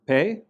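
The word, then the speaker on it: פה: So on the right, we have the word pe, which means mouth. And notice that this is spelled pe, hey. The hey is unpronounced. It's just a vowel marker.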